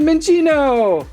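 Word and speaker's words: Minccino: find out by opening and we found a min Chino and I actually said it right finding lots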